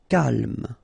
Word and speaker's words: calme: Calme. So don't insist on the final E, calme.